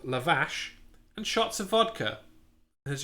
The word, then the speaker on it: lavash: oh there you go it's probably not lavazz it's sh rather than che but nice but still